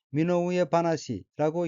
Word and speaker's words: 身の上話: 셋째 줄 오른편 어휘는 한자가 한국어로 신상화이고 몸신, 윗상, 말씀화자로 되어 있고 일본어로는 미노우의 바나시라고 읽으며 미노우의 바나시는 신상 이야기, 자신의 처지에 관한 이야기란 뜻의 명사입니다.